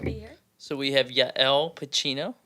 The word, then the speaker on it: Yael Pachino: So we have Yael Pacino, right? Yes, Did I that is pronounce that correct.